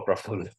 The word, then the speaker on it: Praful: As you watch that movie, oh yes, sure, Praful. That's how it's supposed to be correctly pronounced.